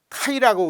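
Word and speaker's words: χ: 카이라고 우리가 이제 읽을 때 카이라고 읽습니다.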